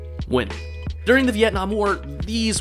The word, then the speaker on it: Nguyen: Okay, I'm doing this voiceover about 5 hours later, and I've finally learned how to pronounce this name. Ready? Write this down. Win. I'll say it again.